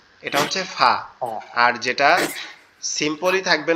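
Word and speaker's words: ف: ফা এর উচ্চারণটা একবারে সিম্পল, একবারে সহজ। সেটা হচ্ছে আমাদের এই যে আমাদের উপরের যে দুই দাঁত এই নিচের ঠোঁটের পেটের সঙ্গে লাগবে, অর্থাৎ আলিফটা আমরা যেভাবে উচ্চারণ করছিলাম জি ওই জি।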